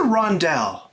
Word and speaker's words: rondel: on boardgames101 okay so first pronunciation you can say rondell or you can say rondel but almost all of the english speakers i've ever met have said ronda your choice doesn't really matter what is it all